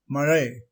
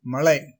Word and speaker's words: மழை: இதன் தவறான உச்சரிப்பு ல ழ இதன் தவறான உச்சரிப்பு ல மழை தவறு மழை சரியான உச்சரிப்பு மழை தவறு மழை சரியான